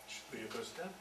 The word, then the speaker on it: Shibuya: You can see Uh, I cannot really pronounce it. How's this intersection called again? Shibuya.